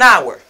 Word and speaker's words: hour: happy child but here this letter h is completely silent an hour an hour okay this is not pronounced i say an hour.